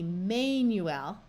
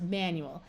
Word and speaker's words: manual: manual now you might think it would be Manuel but this one is pronounced manual so remember the rule about trying The Long